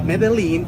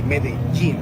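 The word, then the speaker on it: Medellín: J in which we when we have two L's together, we pronounce it as G. It happens with pojo. It's not pojo. It happens also with medin. So it's not medalene.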